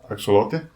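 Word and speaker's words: axolotl: Have you Have you heard the actual pronounce pronunciation of axelottle? Axelote. It's kind of like that. I guess it starts with a uh um it comes from like an old like Aztec word or Mayan word.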